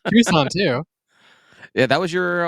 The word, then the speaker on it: Tucson: Lots of people just call me Tuscan and I'm like that's fine, whatever. Yeah. I think the first time I ever said to you in person, Tucson, whatever, you're like, "Oh, you pronounce it correctly." I was like, "People don't pronounce it correctly." No, no one does.